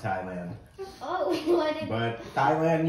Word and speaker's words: Thailand: There's an H in it. There is an H in it. The H is silent. Thailand. Not like your thighs.